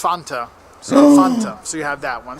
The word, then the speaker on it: Fanta: And there's some other little ones too, like Fanta, as we say it in the U.S. Fanta. It's actually originally from Germany. It's Fanta. So Fanta.